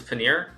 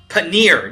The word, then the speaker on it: paneer: Love the way Hikaru pronounces paneer. Paneer, near, like sneer, right?